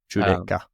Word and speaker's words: Judecca: Judecca, or if there's a better way to pronounce that, let me know. Judecca. Yeah, that way. There you go. With more flair, with the Italian.